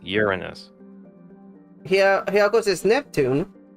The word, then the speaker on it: Uranus: Uranus mhm and yes people that's how you pronounce it it's Uranus not Uranus Don't be a little kid about it's Uranus here here course is Neptune mhm and lastly